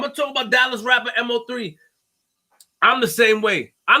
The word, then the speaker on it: MO3: sticks with me today you saying this mo is not emma what is it am i saying it wrong which is it mo par me it's mo 3 sorry part of me